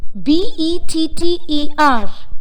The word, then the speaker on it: better: When the letter R comes at the end of a word, its R sound is not pronounced in British English. Examples: better, B-E-T-T-E-R, better, but not better or better.